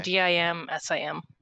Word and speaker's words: Dim Sim: the uh tuesday chat it's spelled dim sum like the like the food or no dim d-i-m-s-i-m okay dim sim okay